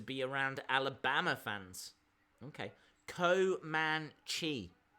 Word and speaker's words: Comanche: so annoying to be around Alabama fans ok Co man Chi it's a Native American tribe I kind of